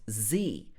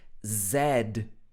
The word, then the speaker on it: Z: english and british english in american english this would be pronounced z you've probably heard about the alphabet from a to z but in british english in the uk people are taught zed z z zed so in the uk